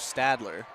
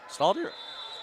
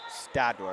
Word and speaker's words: Stadler: Viking point 16-12 as in comes Via and out goes Stadler. Stalder? Stadler. I said it right.